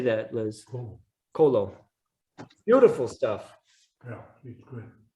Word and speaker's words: Colo: Colo.